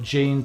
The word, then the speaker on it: Gene: for both clubs Stanley gene or ena as we know how to pronounce it but gene to the population in England when he played there